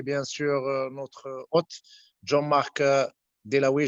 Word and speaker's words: Dewaele: Alors je commencerai par remercier bien sûr notre hôte Jean-Marc Dewaele, je crois, je prononce bien le nom. Alors Acceptable. Très bien.